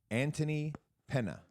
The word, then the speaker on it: Antony Penna: We have a wonderful guest, Antony Penna. Did I pronounce that correctly? You're the first one to make it correct, yes.